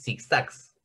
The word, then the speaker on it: zigzags: Ustedes díganme, ¿dónde está la tonicidad? ¿En zig o en zags? La última. En la última. Entonces es una palabra aguda.